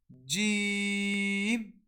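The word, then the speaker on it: ج: So the method of pronouncing Jim, Sheen, and Ya is these letters are pronounced when the center middle of the tongue touches the opposite palate. So we'll pronounce it like this. Repeat after me. Jim, Sheen, Ya.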